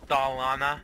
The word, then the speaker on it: Dolina: We have an MTBR leaving Dolina. There's despawn. It's pronounced Dolana.